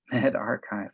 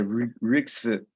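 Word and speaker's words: medRxiv: So this person has published a preprint in the Med, how do you pronounce this? Archive. Med Archive, yeah. So I shouldn't say Rigsfoot.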